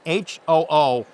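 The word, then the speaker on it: 鳳凰: Seriously, it's Hu, which is a symbol of the Imperial House of Japan. It's a phoenix. Who? H-O-O, long O in each case.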